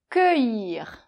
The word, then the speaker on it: cueillir: Alors attention, bon là, c'est toujours pareil, c'est souvent l'orthographe en fait, la graphie quoi, qui, qui crée des problèmes. c'est un C, avec un U, un E et un I.